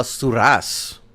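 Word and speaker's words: Surace: Sars or Sorus or how do you say that name? Uh Surass.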